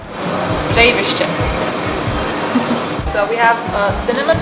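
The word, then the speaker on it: Breyðvirkið: It's pronounced Breydvirkid.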